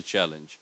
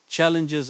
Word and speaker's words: challenge: The stress is on the first syllable.